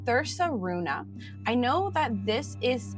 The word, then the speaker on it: Thursaruna: So this book was written by Ran and I believe it's pronounced as Thersa Runa.